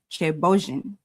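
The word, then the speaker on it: thiéboudienne: It's actually pronounced chebojin.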